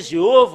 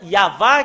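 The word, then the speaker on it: יהוה: Ça a changé Jéhovah ou Yahvé. Normalement, ça doit être Yahva qui doit prononcer.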